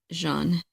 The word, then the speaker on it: Jean: Yeah, it's pronounced Jean.